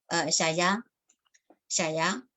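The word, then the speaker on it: 谢谢: Xie xie es el chino mandarín y luego en shanghainés sería xia ya. O sea, la pronunciación es muy distinta.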